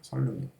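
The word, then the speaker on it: 선릉역: 자, 얘를 선능력이라고 발음하면 선능이라고 발음을 하면은 비음화가 되는 거고 그다음에 설능이라고 발음하면 유음마가 되는 거야. 어느게 맞을까? 이건 답이 있는데 설 아, 네. 맞습니다. 그렇죠. 설 이옷은 설능력입니다. 설능력 알겠죠?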